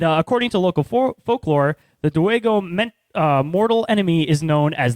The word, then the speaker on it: Dowego: The Dowego, pronounced Dowego, is also said to resemble a large black dog or wolf.